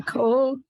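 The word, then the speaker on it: כל: The Again, you've got that word The- coal there. Uka Uva Uvka. Again, it's Coal. coal, because it means that word is coal or hole is always pronounced O.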